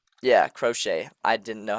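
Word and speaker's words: Croce: Yeah, Crochet.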